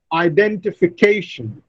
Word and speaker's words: identification: Words with 6 syllables identification. The fifth syllable receives the primary stress and the second syllable receives the secondary stress.